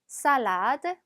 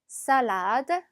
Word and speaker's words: salade: salade, salade. 자, 발음이 있기 때문에 발음을 내주셔야 돼요. 영어처럼 L 발음이 나진 않습니다.